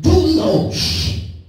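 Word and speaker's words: δοῦλος: In the Greek, bondservant is pronounced doulos, which means slave, which means one who is in a permanent relationship of servitude to another.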